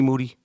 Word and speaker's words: Moody: I call uh G Moody last name rhymes with Duty LeBron James you've done